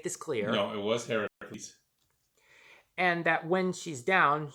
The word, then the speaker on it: Heracles: a fish-ish creature named Heracles, whose name is being pronounced correctly, by the way. I am not butchering the pronunciation. This is how the creature's name is pronounced.